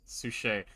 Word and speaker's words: Suchet: Where's David's Oh, how do you pronounce that? Suchet.